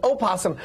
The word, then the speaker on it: opossum: but this is an opossum some people just don't pronounce the oh they think it's silent like pee in swimming